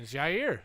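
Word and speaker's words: Jaire: do you say it what do you mean jair jair jair yeah you're the same thing he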